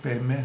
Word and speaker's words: Padme: En sánscrito en realidad es Padma, que significa loto, pero los tibetanos, por una cuestión de hábito o de pronunciación, Pad lo pronuncian P, entonces en general todos los tibetanos lo pronuncian como Om Mani Padme Hum.